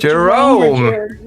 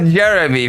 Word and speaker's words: Jerome: Jerome Jerome. Not Jeremy. That's for sure. Okay, that's for sure.